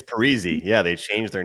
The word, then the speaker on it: Parise: He comes out and says, "Actually, you guys have been saying my name wrong the whole time." It's Parisi.